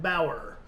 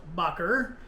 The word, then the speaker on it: Baugher: said it in front of her, but I pronounced it Bauer. And I was recently corrected on that, and it is actually pronounced Baugher.